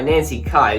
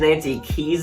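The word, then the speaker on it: Nancy Kyes: see sandy played by nancy kai so i wrongly pronounced his nancy keys in my halloween 3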